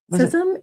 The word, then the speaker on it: CISM: CISM is it's pronounced CISM.